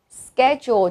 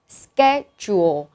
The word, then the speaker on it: schedule: Và nó có hai cách đọc. Mình có thể đọc là schedule hoặc là schedule. Đều được.